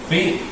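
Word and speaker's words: φ: Su nombre es Fi. Y se pronuncia como la F.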